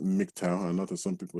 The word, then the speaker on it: MGTOW: that stands for mgtow and yes it is pronounced mgtow another some people say magtile or some weird